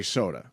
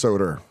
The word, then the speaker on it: Soder: It's a weird last name because you want to say Soda, You want to say soda. but it's you- Soder. Yeah, it's Soder. which is kind of how he said soda on Long Island.